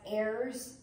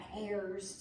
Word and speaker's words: heirs: I teach them that sometimes that H is silent so they're not Hairs To The Kingdom they're heirs to the kingdom and so we have